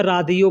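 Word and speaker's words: راديو: Radio को अरबी में रादियो बोलते हैं, रेडियो को अरबी में रादियो। ये इंग्लिश में लिख करके इसका स्पेलिंग जब आदमी करता है ना, तो देखिएगा लिख करके रेडियो लिखेगा, जब उसको पढ़िएगा तो वो लिखा होगा रादियो।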